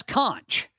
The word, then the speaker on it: conch: Oh, that's conch. See, I went conch too, and everybody says that the Key West people say conch.